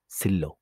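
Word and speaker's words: 실로: এখানে অনলি ল রো হবে এবং উচ্চারণ হবে সিল্লো।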